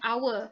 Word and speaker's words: hour: do we use why do we use an hour not uh our we start with the letter